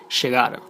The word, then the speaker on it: llegar: you can find that letters Y and double L are pronounced like sh, sh, like instead of llegar, llegar, instead of lluvia, lluvia, instead of yendo, yendo, and so on.